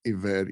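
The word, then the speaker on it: עבד: know basically you know the hebrew word for slavery back then was a bad ebed or pronounced aved e-v-e-d and i was like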